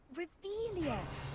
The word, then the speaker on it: Revelio: where are you rebellious saying it wrong oh rebelia much better oh shut up wait Akio ah